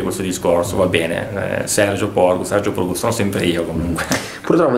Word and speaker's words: Porcu: accento, uh-huh. ma per tutti, per molti, diciamo così, sono sempre stato chiamato Porcu, io un po' per timidezza, un po' per